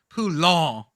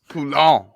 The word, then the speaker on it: Poulon: But two very clear syllables. Poulon. Poulon.